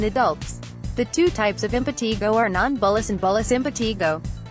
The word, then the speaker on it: impetigo: Impetigo, pronounced impetigo, is a contagious, superficial infection of the skin caused by Staphylococcus, staph, and Streptococcus, strep bacteria.